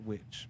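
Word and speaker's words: W.I.T.C.H.: on the TV series wi TCH most likely pronounced which but it was the initials for something yeah okay so I guess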